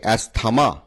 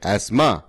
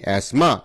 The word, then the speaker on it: asthma: আমরা অনেকেই বলে থাকি অ্যাস্থমা, কিন্তু অ্যাস্থমা উচ্চারণটা সঠিক নয়। সঠিক উচ্চারণ হচ্ছে অ্যাসমা। তাহলে দেখতে পাচ্ছি ASTHMA, অ্যাসমা। এখানে টি হচ্ছে সাইলেন্ট ওয়ার্ড।